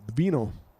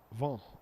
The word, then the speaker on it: vin: a sip of the vino. Vin. In French, it's vin. V-I-N. And you don't pronounce the N.